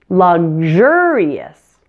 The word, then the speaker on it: luxurious: the first syllable luxury but luxurious stresses the second syllable luxurious luxury luxurious now let's